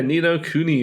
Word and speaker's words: Ni no Kuni: Now the next one, and I believe last week I pronounced it wrong, so I'm gonna try to do it right. Ni no Kuni? Yeah, Ni no Kuni, man.